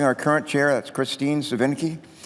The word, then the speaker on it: Svinicki: Each commissioner, including our current chair, that's Kristine Svinicki. Let me say her name again, Svinicki. People have a hard time saying her name, it's Svinicki.